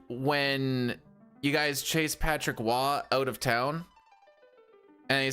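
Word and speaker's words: Roy: Correct pronunciation, R-O-Y. Waugh. Patrick Waugh. Unless he's on the Habs, then it's Patrick Waugh.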